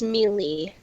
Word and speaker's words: melee: __ ] smash brothers melee mele mele its variants melee I don't care if you look up the pronunciation of the word is mailing but I like me